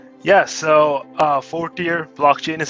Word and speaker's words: Fortior: we pronounce this blockchain's name yeah so uh fourth year blockchain is how you pronounce it and it's a blockchain yeah blockchain uh infrastructure development company currently working on the algorithm blockchain awesome so wait 40 years did i say that right four deer fourth